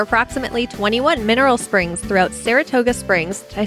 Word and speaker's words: Saratoga Springs: John posted from the bottled water episode, it's pronounced Saratoga Springs, not Sarasota Springs.